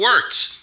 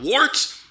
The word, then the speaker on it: Wørt: that again guns radio it is the words not warts not forts not short so what I'm